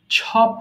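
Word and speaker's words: chop: আমরা চপ বলি কিন্তু বিদেশীরা তারা চ এর উচ্চারণ করে না তারা কি বলে ছ বলে ছো এটা হবে ছপ হয়ে যাবে চপ বলবো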